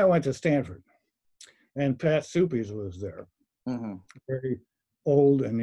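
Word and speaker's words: Suppes: to stanford and pat supes was there very old and incredibly distinguished person soupy's is that the pronunciation i always thought yeah patrick supes are not everybody that's the way he pronounced it okay uh so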